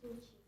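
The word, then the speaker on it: Shuchi: Yeah, my name is Suchi. S-H-U. I think the H is silent. S-H-U-C-H-I.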